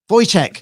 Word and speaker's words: Wojciech: Wojciech.